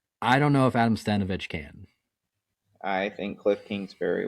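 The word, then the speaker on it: Stenavich: interviews, it's people like Cliff Kingsbury and Adam Stevenich. Adam Stenovich.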